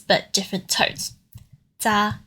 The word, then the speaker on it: 咋: Za in the third tone is the next one we're looking at.